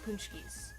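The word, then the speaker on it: pączki: It's pronounced something like Paczkis. Kind of.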